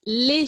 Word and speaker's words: lait: vous avez bien trouver le lait qui se prononce les chez moi dans le sud ouest de la france qui peut se prononcer